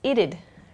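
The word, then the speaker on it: it'd: becomes she Sheed uh it would becomes ited this one's tricky ited ited ited is the pronunciation ited that would becomes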